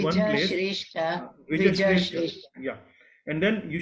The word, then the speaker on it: द्विजश्रेष्ठ: So when you speak Dvija, so you need to fully pronounce the word Ja. Dvij, you are saying Dvij Shrestha. Dvij Shrestha is giving half sound of Ja. So you need to say Dvija Shrestha.